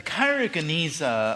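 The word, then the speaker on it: Geniza: documents the Cairo Gan is that how you pronounce yeah the kyona um some of you I expect know um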